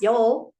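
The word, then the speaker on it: Yule: darkness and the return to light Yu or pronounced Yol was a celebration observing winter solstice and The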